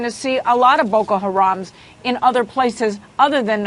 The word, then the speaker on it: Boko Haram: And this is by that terrorist group that's name I never am able to pronounce correctly. Boko Haram.